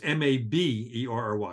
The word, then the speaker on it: Maberry: People want to spell it M-A-Y, but it's M-A-B-E-R-R-Y. It is pronounced Maberry, but it's M-A-B.